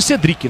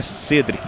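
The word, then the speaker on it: Cédric: carreira consolidada na Europa, sempre era chamado de Cedric, né? Aí de repente veio pro São Paulo e ele disse: "Não, o nome correto, a pronúncia correta é Cedric.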